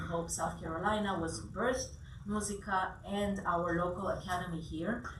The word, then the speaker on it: Musica: So musica, a lot of Americans say musica, and that's perfectly fine.